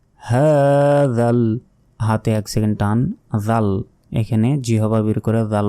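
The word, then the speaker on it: جوع: হবে বলতে হবে জু শেষে আইনের উচ্চারণ হবে হাতে এক সেকেন্ড মানাহুম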